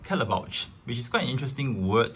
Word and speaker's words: Caletvwlch: I managed to find out that is called Kelly pouch we did find interesting word to pronounce actually so this is a second we